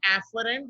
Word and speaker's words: afferent: But remember that this pronunciation is afferent with an afferent, and this is efferent.